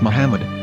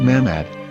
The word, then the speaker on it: Muhammad: yehuda's Hebrew English dictionary it is correctly pronounced as Muhammad not Mahmoud so how we're going